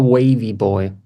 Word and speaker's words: wavvyboi: wavvyboi, that's the right pronunciation. Yeah, I think it's more wavy boy.